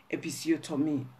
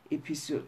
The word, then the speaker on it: episiotomy: Episiotomy. This German pronunciation and English episiotomy.